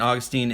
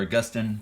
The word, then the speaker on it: Augustine: but the confessions of st. Augustine is or agustin depending on how you pronounce it amazing book that D